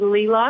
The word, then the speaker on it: Leela: Did I pronounce it right? Because I think I did. It's actually Leela. I know. I messed it up again. I did that the last time. Yeah. Leela, so the next time, make sure that you, when you give your name. Give the pronunciation. Tell them. It's L-E-E-L-A.